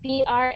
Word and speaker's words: brought: so when you see that word that looks really crazy b r a u g HT sounds like BR good all right all